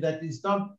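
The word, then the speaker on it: ث: Now, let's for example, try to imagine that instead of two dots here, you have got three dots. So it's a tha, okay?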